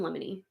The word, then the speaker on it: limine: So there's this thing called emotion in limine. Limine, like think lemon, but spelled with an I at the end instead of an O, and then limine.